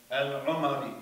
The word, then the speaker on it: al-Umari: And this is from a book by Al-Umari, that's how you pronounce that word.